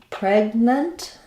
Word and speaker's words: pregnant: check out that word in pregnant we have first syllable stress again there's our F vowel Lykan Red Tent that we had in pens um and we have the G sound but we don't really say PR we don't let that g